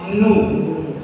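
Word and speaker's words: nous: This S is generally silent at the end. Okay, so you pronounce it Nu. Super. So O-U, these 2 letters O-U will make single sound U.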